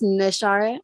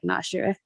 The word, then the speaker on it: Nashara: I have 4 siblings, and it's Nashara. I know some people pronounce it like Nashra.